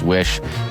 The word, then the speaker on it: Wisch: Alex wish is it wish am I pronouncing that right yes like make a wish exactly make a wish